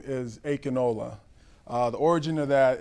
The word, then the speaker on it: Ayodele: You say it wrong. No. Ayodele, but it's with conviction. Right. Ayodele, and right.